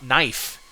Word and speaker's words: knife: interesting ones like uh knife the K used to be pronounced so it was kif